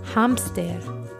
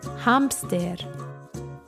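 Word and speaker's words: hámster: for hamster and remember even though this is a cognate and it's spelled the same way it's pronounced a little differently so for hamster we say hamster repeat after me hamster hamster hamster hamster except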